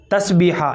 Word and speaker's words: تسبیحہ: نام کا مطلب بتائیے۔ تسبیحہ بڑے ہا کے ساتھ ہے، تسبیحہ، یہ اس کا صحیح تلفظ ہے، آپ اسکرین کے اوپر